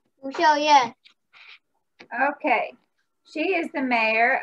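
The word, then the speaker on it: Lu Shiow-yen: Lu Xiao Yan.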